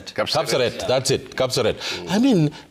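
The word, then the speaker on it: Kapseret: Cupset. Capserate.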